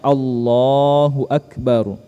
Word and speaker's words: Allahu Akbar: Ihram Bagaimana cara pengucapannya Nah jadi cara pengucapannya Allahu Akbar Allahu Akbar Ya bukan Allahu akbar bnya jangan dipanjangkan ya Allahu Akbar Ya itu yang pertama